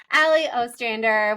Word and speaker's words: Allie Ostrander: fun guest we're so happy to have on Ali Ostrander welcome to the show oh thank you also I'm so impressed that you pronounced my last last name correctly that is